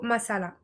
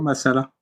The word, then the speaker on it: Masala: Massala m a m a s a l comme ça se prononce avec un seul s.